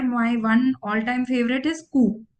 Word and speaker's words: Coup: So again, there my one all-time favorite is coup. It is spelled as COUP. The P is silent.